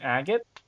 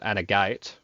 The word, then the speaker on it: agate: like a polished agate an agate yeah like a gem all right or you know if you're really wrong with pronunciation you can call it at a gate okay nobody calls it